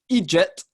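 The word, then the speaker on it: eejit: It's Egypt, and it's EEDJIT.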